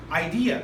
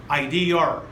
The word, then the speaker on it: idea: Asian students who can know pronounce that word idea correctly they pronounce it as IDR which is bad or when it comes to